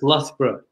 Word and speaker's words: Loughborough: That's Loughborough.